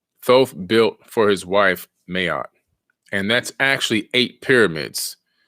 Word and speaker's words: Ma'at: going to talk about the ancient god named Mayotte m-a-a-t mayat is actually the pronunciation she was the wife